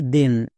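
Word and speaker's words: then: এর উচ্চারণ আমরা থেন করি না, এর উচ্চারণ হয় দেন।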